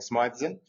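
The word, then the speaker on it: Smythe: So, I'm saying Smithe, but Smithean actually doesn't have an E between the H and and the S.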